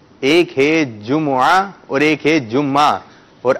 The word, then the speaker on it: جمعہ: جمعہ، دیکھیں ایک ہے جمعہ، ٹھیک ہے، جمعہ، اور ایک ہے جمعہ، یعنی جیم پر بھی پیش ہے، میم پر بھی پیش ہے، عین پر زبر ہے۔ آپ آئیے، اور جب